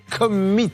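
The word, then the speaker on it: Commeett: Nous avons la chance d'avoir sur notre plateau Gérald Vanier qui aimerait bien qu'on prononce correctement le nom de sa société qui est Commit.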